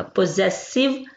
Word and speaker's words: possessive: Double S जो है यहाँ पे जी की आवाज देगा, पोजेसिव प्रोनाउंस।